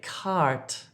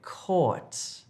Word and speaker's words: court: Don't say cart if you're trying to say court.